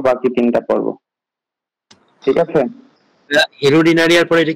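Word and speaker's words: Hirudinaria: যোগ, যোগের বৈজ্ঞানিক নামটা হচ্ছে হিরুডিনারিয়া অফিসিনালিস।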